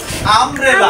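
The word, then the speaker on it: umbrella: যেমন আমব্রেলা। আমব্রেলা। তাহলে Yuta স্বরে আ হয়ে গেছে না?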